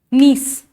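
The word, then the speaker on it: gneiss: SCH ist slate marble niece g n e i s s g silent knees philite p-h-y-l-l-i-t-e polite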